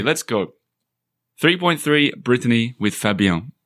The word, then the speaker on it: Fabien: 3.3, Brittany with Fabien. Am I pronouncing it right? Fabien? Fabien, yeah.